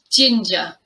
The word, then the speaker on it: ginger: tricky one to pronounce it is pronounced ginger gin j ginger this recipe calls for